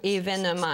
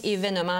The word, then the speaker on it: événement: bien au courant que le mot événement voyons é se prononce toujours événement et la la la prononciation selon les dictionnaire c'est bel et bien événement alors ce n'était pas